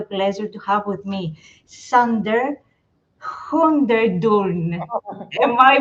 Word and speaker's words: Hoogendoorn: uh in Dutch where I'm from it's it's pronounced hundor but nobody can do that anyway so that's